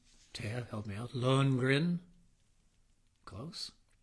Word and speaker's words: Lohengrin: I think it's pronounced, Taya, help me out, Lohengrin. Close. Lohengrin, pronounced L-O, upside down, dui, doing, two, point, two, wop, wop, wop, wop.